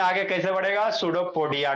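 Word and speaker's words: pseudopodia: सूडो P silent होता है। पी एस यू डी ओ पोोडिया सूडो हो गया पोोडिया जोड़ दो। क्या हो गया? सूडो हां फॉल्स अमीबा में आगे कैसे बढ़ेगा? सूडोपोडिया के थ्रू।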